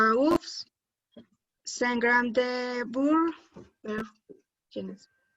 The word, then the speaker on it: œufs: Au pluriel, la lettre F ne se prononce pas.